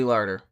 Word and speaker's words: Larter: yeah, they belong here, Famke Janssen and Ali Larter. I'm pronouncing that right.